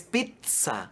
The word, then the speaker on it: pizza: correcta empezando por que el sonido de la doble zeta no existe en español así es la doble zeta es una combinación de palabras ajeno al idioma español se considera un extranjerismos